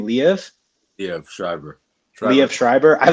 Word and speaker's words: Liev: Liev.